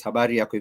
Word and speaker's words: habari: a phrase habar yarak this is a phrase habar if you just want to ask people how are